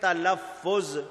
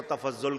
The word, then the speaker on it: تلفظ: بولتے۔ مثلاً یہ لفظ تلفظ میں نے کہا، پروناؤنس کرنا، کسی لفظ کو ادا کرنا۔ کچھ لوگ ہو سکتا ہے اس کو تفضل کہہ دے، تلفظ نہ کہے۔ کوئی مطلب کی جگہ